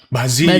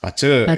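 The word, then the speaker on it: 八字: kita juga sudah sudah sering menyebutnya dengan bazi gitu ya padahal dibacanya adalah pace ya itu adalah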